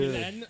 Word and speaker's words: Ghislaine: Ghislaine, but I Ghislaine, pronounce it yeah. Ghislaine.